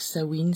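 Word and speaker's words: Samhain: fête de sawin donc sawin Samè j'ai lu dans un livre que ça s'écrivait Samè mais que ça se prononcer sawin donc voilà donc je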